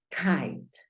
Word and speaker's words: kite: Termina en E y solamente hay una consonante, entonces la I toma un sonido cambiante. ¿Cuál es el sonido cambiante de la I? Míralo acá. Por lo tanto, ya sabes que sonaría kite, kite. La pronunciación de esta palabra es kite, ¿verdad?